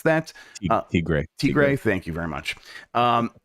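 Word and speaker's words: El Tigre: for people who like these characters uh including eltai gray which apparently is how you pronounce that uh Tigre thank you very much um and but you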